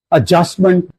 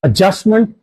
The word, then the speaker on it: adjustment: The words that have this alphabetical structure are adjective, adjustment, adjournment, etc. In all these words, there is DJ alphabetical structure in which D is silent and J is actively pronounced. Adjective, not adjective. Adjustment, not adjustment.